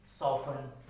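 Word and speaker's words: soften: जैसे कुछ वर्ड्स ऐसे होते हैं कि जहाँ टी क्या है साइलेंट हो जाता है, जैसे क्रिसमस, सॉफन, बैच, लिसन, यहाँ टी क्या है साइलेंट है।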